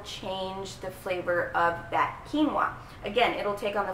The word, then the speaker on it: quinoa: how do you spell it how do you pronounce it it's quinoa I know a lot of people who have